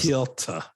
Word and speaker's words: Piotr: Piotr.